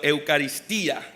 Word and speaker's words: Eucaristía: La primera parte se llamaba la Eucaristía, como habíamos dicho, o el nombre o el significado, Eucaristía, con acento en la I.